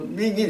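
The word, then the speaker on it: 命运: 중국 발음으로 밍인 이렇게 부르는데, 그러니까 운명이라는 단어가 여기서 나온 거고, 또 인연이라는 단어도 바로 여기서 나온 겁니다.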